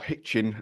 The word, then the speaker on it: Hitchin: So, Al, you're in Hitchin, or Hitchin as other people call it. Depends where you're from, I suppose. I don't pronounce my H's.